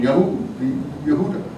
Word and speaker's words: Yehuda: So they actually have the pronunciation of Judah quite right. It's very ancient pronunciation, Yahud, Yehuda.